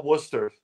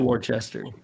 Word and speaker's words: Worcester: I've been to Worcester. It's not Worcester. It's Worcester. I know what they say, but it's not phonetically correct.